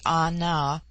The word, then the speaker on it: Ana: george bulwarlin chapter 10 the word ana pronounced broadly anna corresponds with our plural